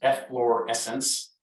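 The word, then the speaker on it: efflorescence: at all yes the white stuff you're talking about is f lore essence the bubbles in the champagne that make your nose tingle is effervescence you have fluorescence floors spelled like flour have fluorescence is salts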